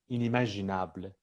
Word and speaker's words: inimaginable: Quand le préfixe in est placé devant un adjectif qui commence par une voyelle, ça se prononce in. in. Voilà, oui. Par Et exemple, pas un. Oui. euh, inimaginable, C'est ça.